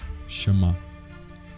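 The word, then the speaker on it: שמע: No hebraico, a palavra obedecer pronunciamos como chamar.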